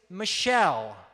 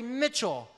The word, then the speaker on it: Michelle: say hey Mitchell now my last name is Michelle like the name of a girl but some people mispronounce it and say Mitchell when I was in